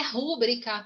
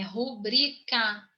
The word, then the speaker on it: rubrica: Gente, por favor, não é rúbrica, tá? Não é rúbrica, é rubrica.